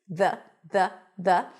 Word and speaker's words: the: to remember is that we stick the tongue out for the th and it's a voice th v. Now because it's a word that is usually pronounced really quickly, sometimes you don't fully stick the tongue out. Some people might even put the tongue on the back of the teeth. the the and that is perfectly fine.